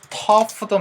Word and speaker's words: tough: 자, 그러면은 tough도 마찬가지입니다. Tough. 이런 것들 GH로 끝나는 발음들에서 여러분들 F 사운드를 좀 만들어 주셔야 되는 것까지 같이 기억할 수 있었으면 좋겠어요.